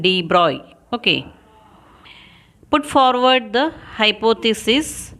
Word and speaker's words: de Broglie: So in 1924, the French scientist Louis Victor de Broglie, pronunciation de Broglie, Okay.